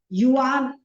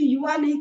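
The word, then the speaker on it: Yuan: कितने सारे नाम है युवान अरे मंगोली युवान का रहे हैं स्वामी रामदेव जी अभी भी युवा नहीं कहते युवान कहते हैं उच्चारण है यह पुस्तक है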